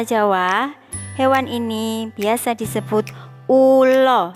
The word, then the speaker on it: ula: Sedangkan dalam bahasa Jawa, hewan ini biasa disebut ulo. Tulisannya U-L-A, A-nya dibaca O, ulo.